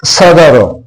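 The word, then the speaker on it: صدر: Dear student ये तीसरा लफ्ज़ है सदर। सदर, स्वाद के ऊपर ज़बर, दाल के ऊपर ज़बर। आप ब्रैकेट में देखिए, स्वाद के ऊपर ज़बर है, दाल के ऊपर ज़बर है और रे साइलेंट है।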